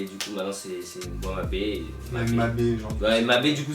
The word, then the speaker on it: Mabe: Mais c'est vrai qu'il ça se prononce Mabé, quoi. Ça se prononce pas Mab.